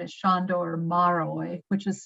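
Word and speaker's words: Márai: no longer living his name is shondo or maroy which is spelled m-a-r-a-i he's fabulous but only a only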